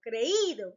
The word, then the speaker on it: creído: You must pronounce the I. Caído, creído, leído, oído, reído, sonreído, traído. Because they have a tilde, and that makes it a strong sound.